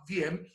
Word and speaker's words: Vi-M: It's pronounced VM, but it's spelled VI-M.